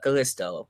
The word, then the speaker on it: Kalisto: Kalisto, Kalisto, Kalisto, that's how you say his name.